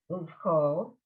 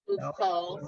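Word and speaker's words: וּבְכָל: Uvchal, Uvkol. Uvchol, sorry, All right.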